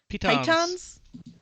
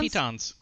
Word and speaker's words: pitons: Pythons? Is it pythons? Pitons. No, it's pitons.